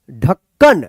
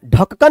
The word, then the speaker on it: ढक्कन: यहां पे देखिए ढ है आधा क, फिर यहां पे क न, देखिए उच्चारण ढ क क न, ढक्कन, ढक्कन मत पढ़िएगा, इसको क्या पढ़ेंगे, ढक्कन।